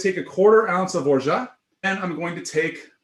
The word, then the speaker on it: orgeat: It's actually spelled like orgeat or orgeat, but the French say orgeat. They say orgeat. I say orgeat. Now you will say orgeat.